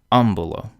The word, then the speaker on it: ambulo: Ambulo, because the second to last syllable, b, is short.